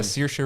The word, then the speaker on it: Saoirse: You got the girl I can never pronounce her name. Saoirse Ronan.